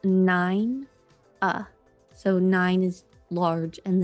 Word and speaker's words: Nina: i n a but according to several websites pronounced nine uh so nine is large and then uh is